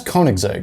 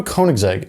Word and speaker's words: Koenigsegg: ridiculously hard to spell and ridiculously hard to pronounce name and that's Koenigsegg but do you know what the American response